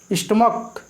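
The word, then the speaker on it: stomach: जैसे स्टमक, ये स्टमक यानी कि जो पेट होता है इसको क्या बोलते हैं, स्टमक बोलते हैं। यहाँ पे देखिए सी एच का उच्चारण क आया है इसलिए यहाँ पे क्या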